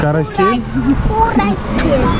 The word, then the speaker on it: карусель: Карусель. Как правильно говорить?